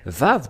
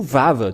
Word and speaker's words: vav: Et même si vous dites Vav, W-A-V, ou Vav, tout simplement, ça se lit toujours V.